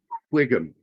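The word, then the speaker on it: Whigham: And he's got one of those weird last names where he has a WH and a GH in it, which makes it Wiggum.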